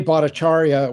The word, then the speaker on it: Bhattacharya: Yeah, these guys weren't slackers on the fringe, and at least Jay Bhattacharya, which is how it's pronounced, was interviewed more than once, I think,